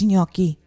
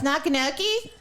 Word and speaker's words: gnocchi: day seriously i'm like it's gnocchi can you at least pronounce it properly what gnocchi oh it's nakanoki no it's not not kanokee folks that's another time